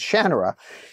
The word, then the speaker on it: Shannara: And I said, "It's it's Shanner." And he says, "Nobody says it that way." And I said, "Well, I say it that way."